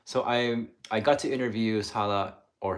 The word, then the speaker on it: Sara: So I got to interview Sala, or it's funny because in Japanese it's Sara, like Sarah, but so Sara.